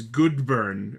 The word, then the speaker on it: Goodeburn: I I think at one point it's called the Tega Knuckle, but the actual name is Goodburn, which is spelled G O O D E B U R N.